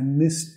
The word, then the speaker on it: missed: I'm sorry, I missed that. Pero con mucha cortesía acá, ¿ya? I'm sorry, I missed that. Nota la E de acá, missed. Vamos a pronunciar como un sonido T. Missed.